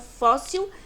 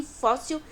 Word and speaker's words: fóssil: E o dos paroxítonos, que são fóssil e réptil. Paroxítono é porque a penúltima sílaba que é a mais forte. Fó e ré são as sílabas mais fortes em fóssil e réptil.